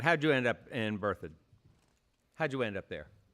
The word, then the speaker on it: Berthoud: Berthoud. Spell that for me.